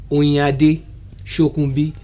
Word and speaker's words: Oyinade Shokunbi: Let me try pronouncing. Oyinade, Shokunbi.